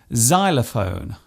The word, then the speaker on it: xylophone: It often starts a word by being pronounced as Z, such as in xylophone and xenophobia.